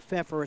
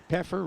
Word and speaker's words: Pfeffer: I've been saying it's not Pfeffer, it's Peffer. Peffer. And that's Yeah. my fault. So Peffer rhymes with heifer.